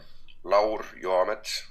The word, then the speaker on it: Laur Joamets: It's Laur Joamets, Oh, but that okay. it works the way you said it as well. So the J is actually pronounced like a Y.